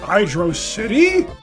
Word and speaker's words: Hydrocity: Well, is it Hydro City? Or is it Hydrocity? I've always pronounced it Hydro City myself. It's like an underwater city, kind of. I mean, I understand why we might pronounce it Hydrocity, because it's literally just one word.